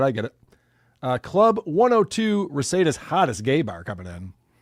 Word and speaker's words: Reseda: You know it's Reseda, right, Carl? Yes. Okay. It's Reseda.